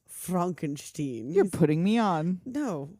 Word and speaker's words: Frankenstein: hilarious mascara running down her face and then Frankenstein on the train and yeah the couple has